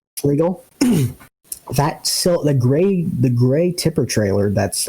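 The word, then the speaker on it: Fliegl: Like I think it's I don't remember how to say it. I think it's a Fleegee or a Fleagle. Yep. Fleagle.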